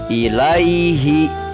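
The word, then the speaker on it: إِلَيْهِ: Begitu juga dengan kata ilaihi. Pada saat kita wakaf atau pada saat kita berhenti membaca, maka dibacanya ilaih. Ditulisnya roiba.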